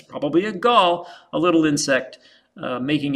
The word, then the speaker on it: gall: Now, anytime you have a bump on a plant with an insect living inside, we call that a gall, G-A-L-L, rhymes with ball, starts with G.